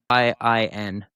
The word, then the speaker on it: Guanyin: I mean, I can't pronounce it. Guanyin.